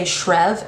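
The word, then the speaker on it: Schreave: I say Maxon's last name as Screevy, and I don't think that's right because I've heard a lot of people say Shrev, and I think that's really gross. So I say Screevy, and then Aspen Ledger is the other love interest.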